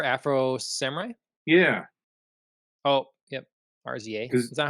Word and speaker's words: RZA: sorry for for Afro Samurai yeah oh yep RZA is that how you say it I always